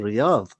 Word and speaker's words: Riyadh: was printed, and it's clearly written Riyadh. And Riyadh in Arabic is written completely different than Ridha. He read it as Ridha, and he made plenty